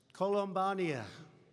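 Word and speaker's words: Columbiana: I especially want to thank, this is such a beautiful place, Columbania. Okay, that's the way you really pronounce it.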